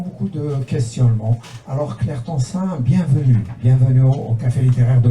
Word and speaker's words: Tencin: Et aujourd'hui, j'ai l'honneur et le grand plaisir de recevoir l'autrice et l'éditrice Claire Tansin. C'est comme ça qu'elle se prononce, j'espère.